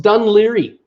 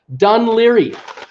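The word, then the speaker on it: Dún Laoghaire: can't speak big the language they said it's pronounced dun Laoghaire that's how I heard it she says a pronounced dun Laoghaire alright is that is that dun Laoghaire to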